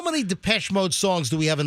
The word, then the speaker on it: Depeche Mode: You on the weekend shift, you've been calling Depeche Mode Peachy Mode, and nobody told you? That's how you say it. That's how it looks.